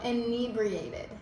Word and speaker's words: inebriated: How do you spell it? I-N. Inebriated. Oh, inebriated is how you pronounce it.